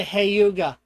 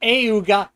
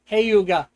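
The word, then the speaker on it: Hyuga: This Elric oh, the Hayuga. Not Ayuga, Hayuga.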